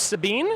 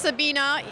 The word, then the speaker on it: Sabine: And your name's Sabine? Is that what it is? Yes, it's actually pronounced Sabina, despite the fact that it has an E on the end. Well, Sabina, thank you so much